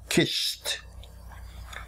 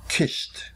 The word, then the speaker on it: kissed: we write k I SS ID but we pronounce it kissed just kissed when C makes the sound like the sea